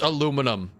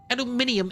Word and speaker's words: aluminum: It's aluminum. Stabby. Aluminum. Why am I Why am I going to add an extra syllable to a word?